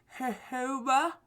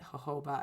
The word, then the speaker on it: jojoba: I have some almond oil, and I have some jojoba. You can say it like that, or you can just say it jojoba. I said jojoba for a really long time.